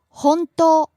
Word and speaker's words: 本当: 本当 True. ほんとう本当 Rising on the second syllable, and staying high.